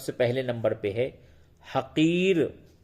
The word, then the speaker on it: حقیر: پہلے نمبر پہ ہے حقیر، ہے زبر ہا، قافیہ زرقی، رے ساکین، حقیر۔ حقیر کے معنی معمولی،